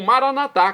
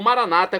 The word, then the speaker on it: maranatá: E agora eu clamo maranatá, como dizemos nós católicos, ou maranata, como dizem nossos irmãos separados, os evangélicos ou protestantes. Não importa pronúncia, o significado é o mesmo.